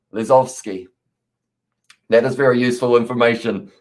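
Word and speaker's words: Lozowski: it's a polish name w's in their name uh often pronounced as a v as well so it's lesofsky lizovsky that is very useful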